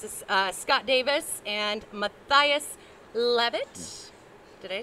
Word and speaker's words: Mathias Leavitt: that but this is uh scott davis and matthias levitt did i pronounce that you did you nailed it i